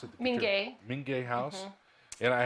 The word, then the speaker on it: Minge: We have with us Carol Lopez, who is site manager at Casa San Ysidro, the Gutierrez, how do you pronounce it? Minge.